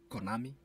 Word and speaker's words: Konami: Konami, that's how it's pronounced.